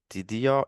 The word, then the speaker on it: Tidio: joining and Damian is from the company called tidio if I pronounce it correctly correct yes to my knowledge